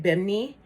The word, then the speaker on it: Bimini: to costa maya and bimini or as the locals say at bimney um beach which is their